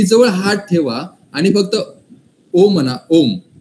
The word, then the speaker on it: ओम: गुण सांगितली तीच व्हायब्रेशन ओम मध्ये आहे ओमकाराचा स्पेलिंग आपण ओएम लिहितो पण ओमकाराचा जर स्पेलिंग बघायचं गेलं तर ए यु एम आहे ओम ओम म्हणजे अकार उकार मकार आता ना जर तुम्हाला